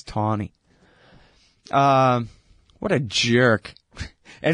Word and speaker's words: Taney: I think it's Taney.